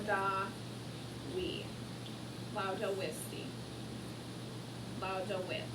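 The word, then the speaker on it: laudavit: Lauda wit. Remember the V is pronounced like a W.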